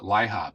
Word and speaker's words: LIHOP: had to be I I always pronounce it Lihop and my hop and this had to